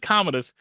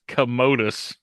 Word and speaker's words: Commodus: Like I said, it's not Commodus, it's Commodus. I hope that was the like a miss like a typo and they just went with it. Oh no, it's I mean, it's spelled pretty much the same. It's just they're pronouncing it Is it? differently. Okay. Yeah, they're pronouncing it like commode rather than Commodus.